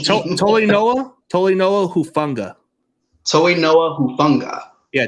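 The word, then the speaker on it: Talanoa Hufanga: He said he didn't know how to pronounce the name. Tolinoa Hufunga. Toinoa Hufunga. Yeah, Tolinoa Hufunga.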